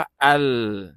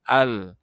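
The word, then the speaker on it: ال: แล้ว ใช่ มั้ย ครับ ฉะนั้น มัน มี ลาม อีก ตัว นึง ตรง นี้ มัน ก็ เลย เป็น อัล อย่าง เงี้ย นะ ครับ ก็ อ่าน ว่า อัล นะ ครับ อัล แล้ว ก็ ลาม ตัว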